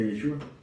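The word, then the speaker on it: ישועה: Y esa salvación que van a ver acá se pronuncia yeshua sepan ustedes que cada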